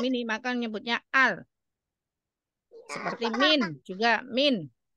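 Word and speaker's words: مِن: Seperti min juga min. Bukan menyebutnya mim nun. Seperti itu disebut min.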